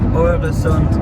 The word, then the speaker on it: Øresund: It is the famous Øresund, did I say it right?